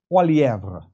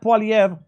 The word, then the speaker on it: Poilievre: How do you pronounce his last name? Poilievre.